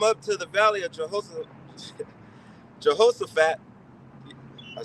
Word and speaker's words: Jehoshaphat: Let the heathen be walked and come up to the valley of Jehoshaphat.